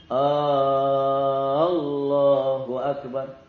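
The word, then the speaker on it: الله أكبر: Jangan juga barnya yang dipanjangkan. Allahu Akbar. Ini biasanya sering terjadi kesalahan itu ketika orang melafalkan kalimat azan. Ya, azan. Sebagian orang azan itu enggak benar ya, barnya itu panjang. Nah, itu jadi beda maknanya.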